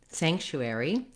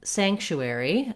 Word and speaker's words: sanctuary: all looking at sanctuary the first part of the word is where the stress is so i want my stress on the sank syllable and then the chewery syllables are going to go quick and be somewhat reduced so long on sank and then chewie quick basically the first part